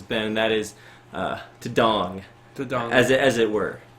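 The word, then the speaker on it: 동: And in case you guys are wondering why we're calling this Dong Wars, it's because in Korean it's actually pronounced more like Dong, and it means neighborhood.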